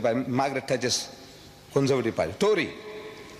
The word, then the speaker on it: Tory: Tory. How you pronounce it?